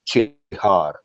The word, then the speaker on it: Csihar: Can you pronounce your last name is Csihar or how it is? Yes, hello, awesome fans of Greece. Hello. And yeah, my name is Csihar. Like that's how you say. CS is a ch in Hungarian.